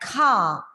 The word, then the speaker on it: car: He bought a red car. Again, C-A-R is pronounced in a very simple way with a silent R, like car, starting with a plosive ka. It's not car. It's not car. It's car.